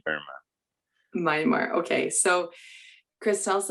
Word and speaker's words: Myanmar: And you recently, and I can never, is it Miramar? How do you say Myanmar? Myanmar.